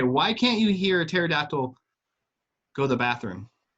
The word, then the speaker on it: pterodactyl: can't you hear a pterodactyl go the bathroom why does the P is silent I'll be here all